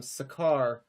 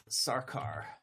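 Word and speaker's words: Sarkar: Um, Sakar. Um, Ash. Ash Sakar. Is that how her name is spelled? Sarcar. Yes. Ash Sarcar. Okay. There's an there's an R in there that Right.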